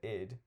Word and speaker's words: Id: The Wizard of Id. And I don't know if it predates the Wizard of Oz, but it just happened to be like a place name, so that's cool. Just pronounced id.